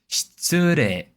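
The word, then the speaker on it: 失礼です: So, as you can see, uh the tsu is highest pitch on this word. Shitsure de. Shitsure de. So, that's how it should be pronounced.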